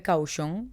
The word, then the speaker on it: Cauchon: Está dirigido por Pierre Cauchon, que se escribe Cauchon, pero así es como se pronuncia, Cauchon, cerdo en francés, maravilloso.